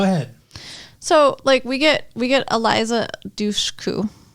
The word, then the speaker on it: Dushku: So we get Eliza Dushku, right?